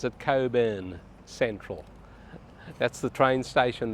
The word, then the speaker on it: Cockburn: in Coburn Central or cockburn Central we pronounce it Coburn on this channel and in Perth we pronounce it coin there are all apartments